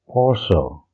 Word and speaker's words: Porsche: Our next brand is Porsche, and it's pronounced as Porsche.